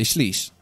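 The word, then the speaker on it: שליש: a liter, 330 mils, called a shlish. Please note that a shlishia in Hebrew is a threesome, so make sure that you get their pronunciation correct.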